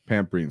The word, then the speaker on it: Pampreen: Pampreen.